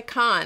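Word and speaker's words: Caen: You're supposed to say Con. I'm trying to use the right pronunciation.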